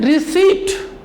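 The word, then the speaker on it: receipt: जैसे मैंने बोलेंगे ये वर्ड देखिए, मैंने क्या लिखा, रिसीप्ट, RECEPIT, बट P silent here, silent. इसे पढ़ते हैं रिसीट, रिसीट.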